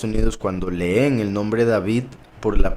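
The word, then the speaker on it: דוד: En hebreo es David, Hay quienes lo pronuncian David, porque la Vav en hebreo, que es la letra que está en el medio, el nombre David, se pronuncia como una V y se pronuncia como una U.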